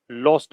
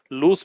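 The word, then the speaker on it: lose: Verb बन रही है, लॉस्ट मैन वर्ब है, और लॉस्ट के तीनों फॉर्म ये बनती है, लूज, लॉस्ट, लॉस्ट। ठीक है, इसका प्रोनाउंसिएशन भी ध्यान रखना, लूज होता है, लॉस नहीं होता, लूज भी नहीं होता, लूज होता है।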